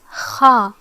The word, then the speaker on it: خ: Okay, so it's kha, kha, kha, kha. Okay, imagine that you are trying to spit or something, clearing your throat.